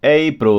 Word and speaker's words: April: April. Ó o L no final. April. Lembra da aula de fonética? April.